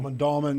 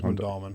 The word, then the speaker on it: Mondawmin: Mondawmin, yeah, I think it's Mondawmin.